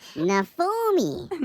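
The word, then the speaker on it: Naofumi: pronounces now for me his name is nafumi nafumi to be exact is what she said and not phooey okay not fully nothing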